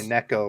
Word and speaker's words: Neko: yeah I still say Nico rig so don't ask me is it not Rico oh no everybody always corrects me and says it's actually Neko which is like uh Japanese pronunciation or something I'm like oh that's